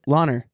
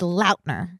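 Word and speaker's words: Lautner: no what you Taylor ler no there's still a t in it it's lner Taylor lner okay Alicia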